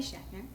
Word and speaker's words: Schachner: oh my God hey um this is Shatner yes yeah that's my name I'm so glad you could pronounce it I I okay um you've done